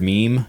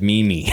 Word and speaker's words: meme: Okay, the word meme. He said Mimi.